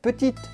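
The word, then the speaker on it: petite: is called petit sierra yes in this case we do say the t at the end of petit because there's an e after it put it delicious rich bold quite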